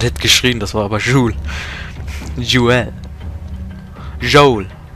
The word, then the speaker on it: Joel: Ja, ich dachte, jemand hätte geschrien, das war aber Joel. Joel. Joel. Joel, so wird er ausgesprochen. Joel. Ich hab vor kurzem gemerkt, dass ich es öfters falsch ausspreche.